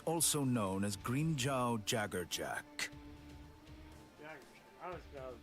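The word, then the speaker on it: Jaegerjaquez: Jaggerjack. I was about to pronounce Jaggershock.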